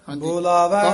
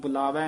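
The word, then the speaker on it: ਬੋਲਾਵੈ: महला पंजवा बंधन तोड़ बोलावे राम बंधन तोड़ बोलावे राम बोलावे ब होड़ दीर्घ उच्चारण करना बुलावे नहीं कहना बोलावे राम मन मह लाग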